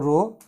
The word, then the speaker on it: rho: रो को बोलते हैं रेजिस्टिविटी, रो प्रोनाउंस करते हैं RHO, रो, ये रेजिस्टिविटी कहलाता है, यहाँ पे रेजिस्टिविटी।